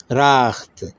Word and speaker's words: رخت: کیا ہوا اس کا تلفظ؟ راخت.